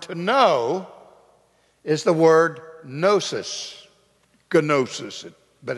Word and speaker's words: gnosis: the Greek word to know is the word gnosis, gnosis, but it's pronounced gnosis.